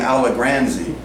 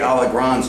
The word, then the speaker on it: Alagranzi: I prefer to say my name Alagranzi. You could say it Alagranzi, it doesn't matter.